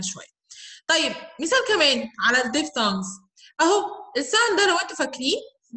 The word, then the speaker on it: diphthong: بص يا سيدي، الديفثونجز عامه كلمه ديف هي هنا البي اتش بنطقها ف ساوند، تمام؟ فبقول ديف وبعد كده thong، فاكرين هنا الساوند اللي